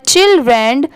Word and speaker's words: children: और DREN मतलब यहाँ पर REN ऐड हो गया तो यहाँ पर इसकी साउंड क्या हो गई, चिल्ड की आएगी, चाइल्ड की नहीं।